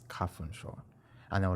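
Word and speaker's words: 花粉症: So I looked on my phone and I was just like, oh wait, it's kafunsho.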